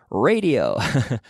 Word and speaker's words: radio: Radio. Radio. Ray in English. Ray. A. Not ra. Ray. A. A as in Alicante.